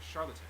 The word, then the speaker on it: Charlottetown: Capital and largest city is Charlottetown. Sounds like the word charlatan. Okay, it's not Charlottetown.